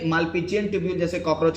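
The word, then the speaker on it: Malpighian: Spelling ठीक है। बोलना मालपीजियन। हां मालपीजियन ट्यूब।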